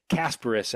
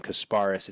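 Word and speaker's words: Kasparas: and that is casparis casparis actually is how he said he pronounces it I made sure to to get that at media day CU I've been calling him kasparis it's Casper yakon so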